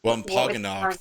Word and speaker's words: Wampanoag: Wampanoag.